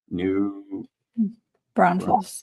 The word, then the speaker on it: New Braunfels: And you'll have to pronounce the name of the city. I'm New Braunfels, New New Braunfels.